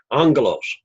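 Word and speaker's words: ἄγγελος: Like angelos, the 2 gammas would break into the NG sound. That's what we say, but there's actually a break there to emphasize the syllables.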